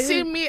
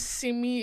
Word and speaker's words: Simi: Simi as in see me. But my name is Simi.